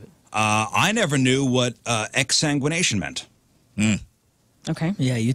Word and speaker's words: exsanguination: I never knew what exsanguination meant. Mm. Okay. Yeah, you taught us. Not only did you learn, but you taught. Did you say ex-sandwich nation? Exsanguination.